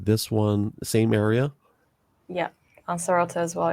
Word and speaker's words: Lanzarote: Lanzarote, it's Spanish.